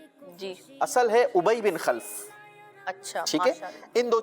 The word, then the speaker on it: ابی بن خلف: اور ایک چیز بیان کی گئی، ایک نام بیان کیا گیا ابی بن خلف. جی اصل ہے ابی بن خلف.